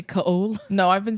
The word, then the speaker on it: Chaol: It's Cole. It's just spelled fucking stupid. It wouldn't be Kale. It's Cole. I believe you. Chaol. Yeah. Not OA. No. It's spelled like coal in a fire.